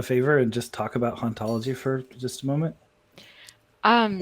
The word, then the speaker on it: hauntology: play on words because in the french in his original language it would be pronounced ontology so there's sort of